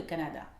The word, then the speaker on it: Canada: Par exemple, le pays, le Canada. Canada. Canada. Il a trois. Canada, ce sera K qui sera accentué. Canada.